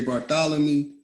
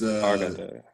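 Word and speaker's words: Barthélemy: So these names of importance, J.J. Bartholomew, that's Barthelemy. So you gotta put ABBE JJ BARTHELEMY.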